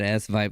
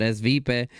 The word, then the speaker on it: Svipe: She corrected me how to say it. I said S-Vibe last time, but Svipe.